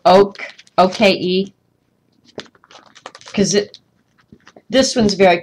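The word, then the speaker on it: Oke: Oak. O-K-E is how that one's pronounced.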